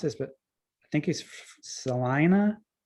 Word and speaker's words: Salina: First of all, Keith is a native Kansan, and I'm gonna mispronounce this, but I think he's Salina. Salina.